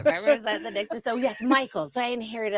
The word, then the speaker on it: Mikles: pronounce your last name it's pronounced Michaels yeah oh okay now